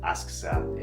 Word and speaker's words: Asakusa: I believe Asakusa is how you pronounce it.